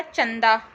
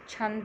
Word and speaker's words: छंद: छंद है वो, चंद को हम, हाँ छंद है, मैं वही तो कह रही थी, चंद प्रोनाउंसिएशन है, CH आना था।